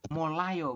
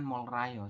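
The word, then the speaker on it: 몰라요: seperti itu padahal ya Secara aturan baca dibaca yang benar adalah molayo bukan mol Rayo seperti itu kenapa molayo karena R di bawah ketemu dengan Real di atas maka keduanya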